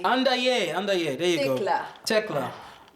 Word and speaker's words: Andayé: It rhymes with Annabay. What? Andayé. Andayé.